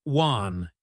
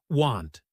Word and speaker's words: want: Some learners don't pronounce the final consonant clearly. For instance, they might say wan instead of want. That can change the meaning.